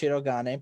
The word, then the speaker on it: Shirogane: Yes, and it's pronounced Shirogane.